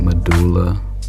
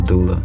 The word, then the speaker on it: doula: You said medulla. That's how you say it. Or was it a doula? A doula.